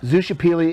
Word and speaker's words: Xochipilli: i l l i and that means what zusha pili is an Aztec uh or basically ancient mystica